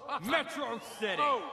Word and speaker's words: Metro City: did you move you mobile get it's pronounced Metro City potato tomato potato we all know how this